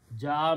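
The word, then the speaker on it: جاء: Ja'a means he came, third person came, someone. Again, important thing is that there is a hamza. Hamza will force this alif to be pronounced with a long mad.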